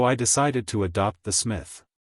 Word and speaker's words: Psmith: decided to adopt the Smith the P I should add for your guidance is silent as in thyis psychic and Tagan you follow me why